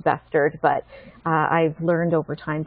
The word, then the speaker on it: Bestard: my names that badly my last names actually pronounced bustard but I've learned over time to answer to